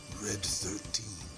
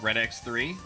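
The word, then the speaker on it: Red XIII: when I was younger I did not know how Roman numerals worked phonetically so I would call call it like I knew some of it but not enough so I would call a red 13 red X3 cuz I didn't realize that X was also part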